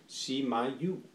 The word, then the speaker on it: SMY: It's pronounced SMY.